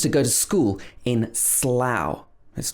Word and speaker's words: Slough: a place in the uk near reading called slough which is also spelled o-u-g-h i used to go to school in slough that's not true i didn't actually but uh